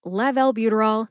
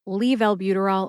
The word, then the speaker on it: levalbuterol: in the show notes this drug name is laval-buterol not leave albuterol or levo albuterol again Le valbuterol is